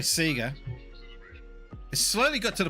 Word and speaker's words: Sega: how I pronounce something usually it's because I say Sega or sorry Sega it slowly got to the point now where I'm starting to call it Sega it's really hard I